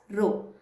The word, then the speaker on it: rho: Though it looks like P, it is not P. You are going to pronounce it as rho.